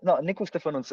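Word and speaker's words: Nicu Ștefănuță: Andy, can you talk about Nico Stefanuta? God, I probably completely mispronounced. Yeah, that's Nico Stefanuta.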